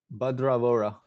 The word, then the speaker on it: Badra Vora: How do you pronounce his name, Mario? Badra Vora. There you go. That's the right pronunciation.